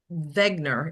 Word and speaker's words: Wegener: his name was Paul Wegener, if you actually pronounce it German like. Wegener, yes.